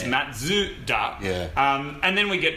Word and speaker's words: Mazda: Of course, we go Mazda. But then when we did that video and realised that it was 3 syllables, it's Matsuda.